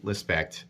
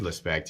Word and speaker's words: Lespect: You can check him out on Instagram, David Lespect, or I keep saying David Lespect, but it's David Lespect.